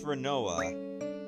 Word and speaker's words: Rinoa: oh yeah my name's her name's rinoa I know it rhymes with quinoa but it's not green